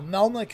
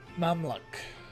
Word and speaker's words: Mamluk: Yeah, Melmac is definitely wrong. Mamluk. That would be closer.